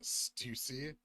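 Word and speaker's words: Stüssy: It's pronounced Stussy.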